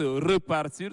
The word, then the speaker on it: repartir: verbes là le premier qui se prononce repartir sans accent aigu sur le E et du 3oè groupe